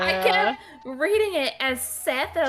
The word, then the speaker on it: Seth: spelled SE in like some people will say Seth some people say set it depends on like before I started